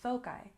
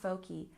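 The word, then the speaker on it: foci: cacti and focus becomes folai notice that cacti and folai have the long eye sound not cacti not foli cacti foli and let's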